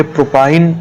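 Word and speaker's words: propyne: तो इसको हम क्या प्रोनाउंस करेंगे? इथाइन, इसको बोलेंगे प्रोपाइन, इसको बोलेंगे ब्यूटाइन, इसको बोलेंगे पेंटाइन और इसको बोलेंगे हेक्साइन।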